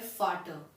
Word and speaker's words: Vater: फादर को हम German में कहते हैं फाटर, वी साउंड F, फाटर।